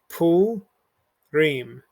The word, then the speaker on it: Purim: And our keyword has 2 syllables broken apart here and here. So it's going to be pu Reem.